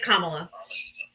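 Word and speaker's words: Kamala: lot of stuff about how Camala Harris was it's Kamla it's Kamla I just in you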